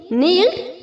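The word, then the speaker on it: kneel: form में बोलेंगे नील nailed nailed दोनों फॉर्म में चाहे इरेगुलर फॉर्म हो या रेगुलर फॉर्म हो दोनों में हमारा नील में के साइलेंट है ओके फोर्थ नंबर में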